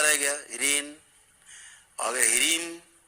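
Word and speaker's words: ह्रीं: जैसे कहीं आप पढ़ते हो, आता होगा बीज मंत्र में ह्रीम, तो ह्रीन नहीं पढ़ना है, ह्रीम माँ है, ह्रीम ऐसे मुंह बंद हो गया, ह्रीन तो मुंह खुला रह गया, ह्रीन। अगर ह्रीम तो मुंह बंद हो गया, ह्रीम ऐसे।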